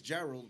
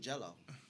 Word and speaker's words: Gerald: My name is Gerald, but I get called Gerard. I get called. When a Spanish person tries to say my name, it sounds like they're saying Jello.